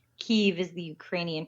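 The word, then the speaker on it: Kyiv: right I'm learning I'm learning you could say Kiev but that's the Russian pronunciation cave is the Ukrainian pronunciation oh okay all right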